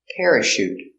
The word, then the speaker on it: parachute: that your chauffeur pronunciation parachute pronounce this with the air pair uh para soft sound shoot shoot parachute you need a parachute